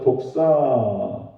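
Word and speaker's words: δόξα: 헬라 원어에서 독사, 독이 있는 뱀이 아니고 발음이 헬라 원어 발음이 독사라는 거예요. 독사. 영광이라는 뜻입니다.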